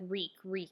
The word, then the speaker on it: Reek: across in the pages, like Reek, it rhymes with meek, and how no, I